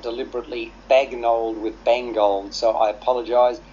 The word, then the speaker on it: Bagnold: the two this whole idea of the name bagnold and that's how it's pronounced is is one in itself that's quite